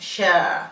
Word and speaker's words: share: Share is spelled S-H-H-A-R-E and it's pronounced share. We don't have to say share or share. We have to say share, very soft. The R is not heard.